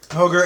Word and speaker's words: Roger: Gracie I have seen Roger Gracie please let's pronounce it right hoger Gracie hoger and hanel hoger and hanel even though it's